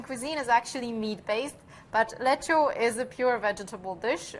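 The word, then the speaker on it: lecsó: dish and it's called lecho and cooking with me will be the hungarian ambassador to indonesia her excellency madam judith so tell me about lecture do i pronounce it correctly you absolutely pronounce it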